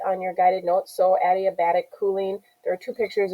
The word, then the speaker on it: adiabatic: form one is addi adiabatic cooling that's how you pronounce it like the name adi and then a bat tick a bat tick so